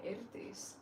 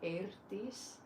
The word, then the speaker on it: Eirdís: But so basically, people do call me now, but I prefer people calling me Eirdís, especially if you can pronounce the R, Eirdís.